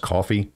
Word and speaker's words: Ko-fi: on the screen here it's pronounced coffee it's kind of a